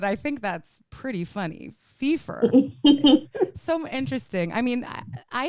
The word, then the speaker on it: Phifer: have her on and her name is did i say it right first it wasn't that but i think that's pretty funny fifa so interesting i mean i hear people will